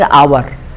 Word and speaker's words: hour: जैसे एन आवर, एन आवर, HOUR, एच क्या है? व्यंजन है, कॉन्सोनेंट है, लेकिन उसका उच्चारण किससे हो रहा है? एन, आ और आ, इसलिए उसके पहले एन हो गया।